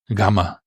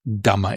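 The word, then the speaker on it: γάμμα: Gamma is the name of the letter GMA or gama if you cannot pronounce the gamma.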